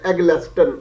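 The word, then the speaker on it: Eggleston: Engineers okay once again I should spell it before assuming its exact pronunciation okay d e double n i s Dennis l at the less than e double g l e s t o and at the left Dennis L aglexton okay Cambridge University press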